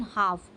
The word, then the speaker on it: half: a mind okay so make sure you don't pronounce the I sound in half okay the I sound is silent so now